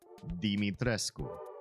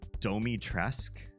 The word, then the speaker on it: Dimitrescu: All the voice actors had to pronounce her name Dimitrescu because that's how it's fucking spelled. And in Japanese, the original Capcom release of the game, and in the American localization, they say, what do they say? Something like Domitresk. They don't even pronounce the U. Like it's silent.